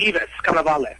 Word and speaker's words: Yvis Cannavale: Am I pronouncing that correctly? Yvis Cannavale.